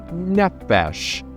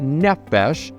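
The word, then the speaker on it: נפש: Testament of the Bible, there is a word that they probably would have pronounced nephesh. N E P H E S H is probably the way that we would spell it in English, but nephesh and nephesh means soul.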